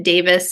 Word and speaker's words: Davies: and then Davis is D- a v IES neither of my names are spelled the way that they're pronounced so follow me on